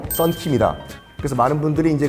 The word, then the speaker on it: 썬킴: 이걸 지금 마음대로 발음하는 거예요. 순영킴, 순양킴. 아하. 됐고 중간에 영자 빼라. 썬킴이다.